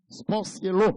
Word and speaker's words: Sportiello: Alors, en italien, deux L pas prononcé yo. C'est l'eau. Sportiello.